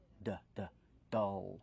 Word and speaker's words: dull: we pronounce dull dull use the short a sound like cup and up d d dull plus the dark L dull the dark L dull